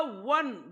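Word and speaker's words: one: अ वन rupee note आता वन ची जी spelling आहे ओ एनी या वन च्या स्पेलिंग मध्ये देखील सुरुवातीला ओ आलेला आहे मग या ठिकाणी ओ चा उच्चार ओ न होता ऑन होता व होत आहे मग व हा मराठीतील व्यंजनाचा उच्चार असल्यामुळे अन वन नाही तर अ वन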